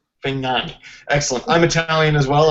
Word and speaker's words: Fagnani: last name I want to say it right fani fani excellent I'm Italian as well I assume you